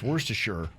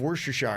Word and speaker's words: Worcestershire: that's the thing is there are three pronunciations of worcestershire and i think that's